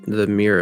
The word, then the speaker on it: mere: it was named the Mere of Dead Men, referred to the fallen kingdom during the invasion. Yeah. Yeah. So in British English, Mere, pronounced Mer, is a lake, pond, or arm of the sea.